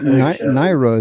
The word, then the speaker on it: Nira: just enough to tease now you pronounced it naira is that correct you said naira oh n okay no problem so I was pronouncing it right then it was that's